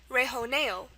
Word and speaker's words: rejoneo: And it's going to be pronounced in a very Spanish way, rejoneo. Rejoneo. This is a beautiful word because it follows Spanish rules to a T.